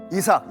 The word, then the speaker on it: 이삭: 이삭, 영어 발음은 아이삭이죠.